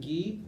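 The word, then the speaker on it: GUI: there's two answers one there's a guy named ghee in the first section sits like right there that's how we pronounced but it's just yeah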